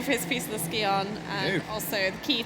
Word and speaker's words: Scion: I want to say Skion. I know, say ski on, darling, it's fine.